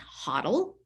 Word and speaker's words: HODL: uh square coinbase kraken that word hodl is pronounced huddle cryptocurrency the term by